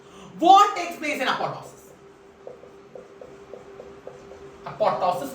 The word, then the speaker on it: apoptosis: takes place in apotosis apotosis or apoptosis p is silent can be apoptosis or apotosis so necrosis classical feature